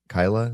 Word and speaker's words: Keilah: Uh when he asks God if he should stay in Is it uh Kei- Keilah?